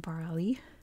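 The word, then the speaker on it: Barrouallie: Not Today is pronounced barali not at all how that would be pronounced in French but you know there's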